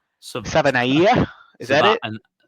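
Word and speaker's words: Savaiinaea: And then that uh guard, I don't know how to pronounce his last name. Jonah Saba Sabanaya, is that it?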